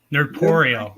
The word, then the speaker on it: Nerdporeal: Nerdporeal. That's how you pronounce it. Nerdporeal, like Poreal. corporeal.